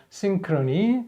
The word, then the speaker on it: synchrony: 그랬으니까 이때는 심크로니 발음이 어려우니까 싱크로니 이렇게 해서 소리가 나죠.